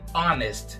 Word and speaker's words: honest: E você viu que eu falei honest, né? E não honest. A pronúncia das palavras pode ser bem tricky de vez em quando. Se você quiser pegar melhor a pronúncia das palavras com letras mudas, como é o caso de honest, dá uma clicadinha nesse